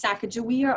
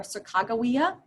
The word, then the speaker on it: Sacagawea: It's pronounced different ways, Sacagawea or Sacagawea.